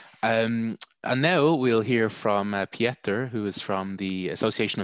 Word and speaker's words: Pieter: My name is not Pieter, but it's Pieter. It's the Dutch version with IE, but I know it's difficult to pronounce, or it's not a very international name, but it's like Peter in English, but then with IE as written in Dutch.